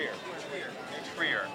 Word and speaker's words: New Trier: Trier yes new Tri New Trier like a tree but ear you guys should Ponder